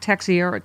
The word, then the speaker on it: Teixeira: Julie says, a two-tiered system of justice is when Jack Teixeira, how do you say his name?